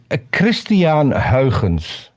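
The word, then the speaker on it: Christiaan Huygens: The only thing I remember is And it's pronounced Christian Huygens. Okay, Huygens. can you do that one more time, but a little slower? Like Christian- seriously. Huygens.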